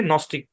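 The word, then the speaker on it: gnostic: কি যারা তারাই হচ্ছে নস্টিক বলা হয় আশা করি বুঝতে পেরেছেন এরকম শব্দের শুরুতে এবং শেষে জি এন থাকলে তাহলে কি থাকবে জি টা সাইলেন্ট থাকবে এন টা উচ্চারিত হবে বুঝতে পেরেছেন আচ্ছা এবার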